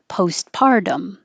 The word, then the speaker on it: postpartum: make it a consecutive postpartum you don't release the first t so that little mark means hold it post pardon postpartum depression so together postpartum